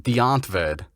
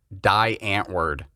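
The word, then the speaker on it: Die Antwoord: uh what's their name again well they're it's pronounced deontved we in america say die ant word so this this group from south africa super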